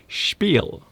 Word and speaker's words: spiel: Some people will pronounce it in the form that it's supposed to be pronounced, spiel, which is German.